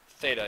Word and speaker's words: theta: like this s equals R Theta this is pronounced Theta it's a lowercase Greek letter okay there's a